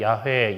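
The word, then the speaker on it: 야훼: 그 그게 정확한 발음일지는 아무도 모르긴 합니다만은 대충 학자들이 야회 야외가 이제 그 발음일 거야라고 하지만은 어 이스라엘 사람들은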